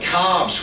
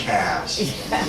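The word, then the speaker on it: calves: year a group of cobs word that's a New England pronunciation isn't it should be Cav oops I I said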